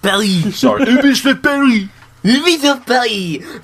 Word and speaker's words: Paris: You pronounced Ubisoft Paris wrong. It should have been Ubisoft Paris.